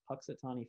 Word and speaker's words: Punxsutawney: Is it Punxsutawney Phil?